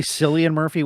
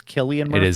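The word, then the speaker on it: Cillian Murphy: And also I think I say Sillian Murphy when it's Killian Murphy.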